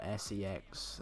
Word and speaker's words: CeX: missing life is missing with me but yeah it's spelt cex no se X there's a shop called C X and it's